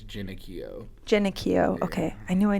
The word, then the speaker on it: Genochio: All right, so it's the Americanized version is Genochio. The correct way to say it is Genochio.